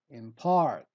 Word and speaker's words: impart: gal word number ten impart in part we stress the part word number 11 judicious